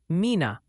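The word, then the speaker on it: Mena: Multiple viewers are suggesting it's Mina, Arkansas, New Madrid, Missouri, and Oayan County. TN.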